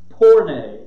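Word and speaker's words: πορνεία: to the greek the actual word is pornei p-o-r-n-a-y that's at least the phonetic pronunciation of it poor name um obviously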